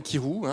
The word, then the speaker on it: Kyrou: Donc, Kirou, ça s'écrit K-Y-R-O-U, comme ça ne se prononce pas.